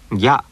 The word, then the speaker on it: ぎゃ: This combination is also one syllable. Listen. Gya, gya, gyaku.